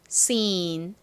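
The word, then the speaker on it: scene: 아니죠 가장 끝에 떨거지야 적어 주셔야 완성입니다 장면 발음해 볼게요 seen seen 좋습니다 자 팬 들고 또 써 볼게요 SC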